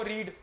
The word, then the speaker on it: read: अच्छा ये देखो, रीड, कुछ पढ़ना, इसमें आपने देखना है इसकी प्रोनाउंसिएशन बदल जाती है बस। ये रीड है, ये रेड बन जाता है, और ये रेड। So only change is the pronunciation. Only change you will find is in pronunciation, not the spelling.